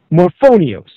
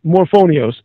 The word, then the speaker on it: Morphonios: fry so this ji morphonios surname spelled m o r p h o n i oos morphonios being an incredibly humorous name as it rhymes with phonics kind of it's It's ill iterative